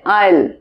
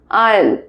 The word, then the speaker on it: aisle: আচ্ছা, এটার উচ্চারণ কি হচ্ছে, এসটা কিন্তু এখানে সাইলেন্ট রয়েছে, দিস এস ইজ সাইলেন্ট, এটার উচ্চারণ হচ্ছে আইল, আইল, আইল সিট।